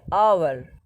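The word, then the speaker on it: hour: যেমন ধরো dash আওয়ার, এখন দেখো এখানে শুরু হচ্ছে এইচ দিয়ে, এইচটা কিন্তু কনসোনেন্ট আওয়ারের, কিন্তু এখন উচ্চারণ করছে আওয়ার, আওয়ার, ও উচ্চারণ হচ্ছে আওয়ার, ও, ঠিক আছে, এরা কি বসবে?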